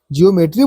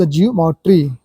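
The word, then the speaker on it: geometry: इ अ इ ओ ध्वनि की मात्रा से उच्चारण करते हैं हम ज्योमेट्री देखो ओ एक साथ आया है जमेट्री ज्योमेट्री बोल देते हैं ऐसान बोलने के लिए हम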